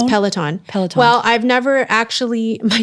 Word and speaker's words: Peloton: way so overrated next uh peloton or is it am i pronouncing it right it is peloton well i've never actually